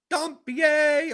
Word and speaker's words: Dompier: Oh, Dompier says I'm proper with the Dompier. Dompier!